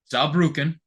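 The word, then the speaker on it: Saarbrücken: Bayern from the PO I had to look up how to pronounce this team's name Z bruken is the team's name aukin like from uh Street Fighter close very close Z zuken Zen yes uh Carl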